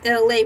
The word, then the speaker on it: Elay: My name is LA, pronounced like LA, like the city from there.